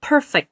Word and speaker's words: perfect: 네, perfect 앞에 강세입니다. perfect.